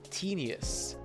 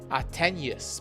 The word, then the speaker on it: tenuous: Their connection to the hive mind grows tenuous. Tenuous? I think I've heard of that word before, but how would I define it? Tenuous. Tenuous. Attenuous, pardon my pronunciation. Tenuous. The pronunciation is tenuous and it means it